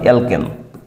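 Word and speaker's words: alkene: double মানে কি অ্যালকিন অ্যাল কিন অ্যালকিন ডাবল উচ্চারণ হবে কিন মানে ইন তার মানে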